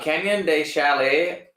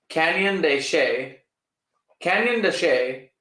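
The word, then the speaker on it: Canyon de Chelly: Canyon de Chalet. Oh. Canyon de Chay. That's how it's pronounced.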